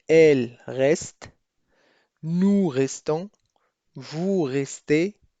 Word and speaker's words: elle: فالبعض من المبتدئين في تعلم اللغة الفرنسية دائما يتساءلون ما الفرق بين il et elle. il للمذكر و elle للمؤنث، مع أنه يرى أنهما لا يختلفان في النطق.